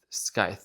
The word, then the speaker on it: scythe: Scythe. Scythe. Okay, scythe. Sorry, Gemini. Hold on. Scythe. Okay, scythe. So the C is silent.